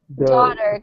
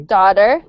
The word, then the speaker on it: daughter: Daughter, good. Yes, though is an O sound. Instead of ah, it's O, like round O. Okay. Daughter, good. It's an ah sound. Like ah, open wide.